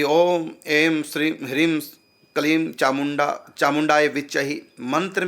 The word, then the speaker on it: क्लीं: देखो, कलीम का उच्चारण कलीम, बस कलीम, लास्ट में माँ हलंत, मतलब होठ बंद ही रहे, खोले ना, कलीम। और यदि हम बोल दिया कलीम, ये अशुद्ध हो गया, क्योंकि हमने होठ खोल दिए।